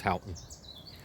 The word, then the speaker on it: Houghton: after hout and regis just known locally as halton the regis was actually